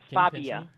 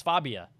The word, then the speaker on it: Fabia: It's actually pronounced Fabia. Oh, it's Fabia. I'm sorry. The voice recorder didn't get you right. It's Fabia.